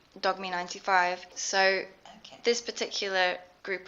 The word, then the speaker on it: Dogme: Is there anything else about Dogme ELT that people... Oh, sorry, I'm saying it wrong again. Dogme.